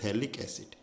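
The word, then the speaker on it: phthalic acid: ध्यान रखिए, थैलिक एसिड में हमेशा क्या आता है, PH, स्पेलिंग में PH साइलेंट होता है, थैलिक एसिड।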